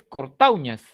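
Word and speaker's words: cortaúñas: Aquí lo que se dice es cortauñas. Esto es cortauñas, no cortauñas.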